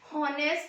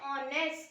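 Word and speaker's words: honest: अब यहाँ पे है, इसको क्या रीड करते हैं, हॉनेस्ट नहीं रीड करते, एच यहाँ पे साइलेंट होता है, एच को नहीं रीड करते। इसको हम कैसे प्रोनाउंसिएशन करते हैं, ऑनेस्ट।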